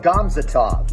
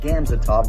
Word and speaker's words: Gamzatov: on the roster chemiel gomzatov not gamzatov gomzatov benoist salt denis can